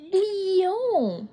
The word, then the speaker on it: Lyon: Reine mère, on dit Lyon. Lyon. Tu n'as pas besoin de faire comme moi avec les lèvres. Juste prononce Lyon.